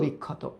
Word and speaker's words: বিক্ষত: ক্ষত বিক্ষত, মনে রাখবা এই ক্ষীয় যদি শুরুতে বসে তাহলে ক্ষয়ের মতো হয়, নর্মাল খ। আর এ যদি মাঝে বা শেষে থাকে তাহলে একটা ক আর একটা হবে খ।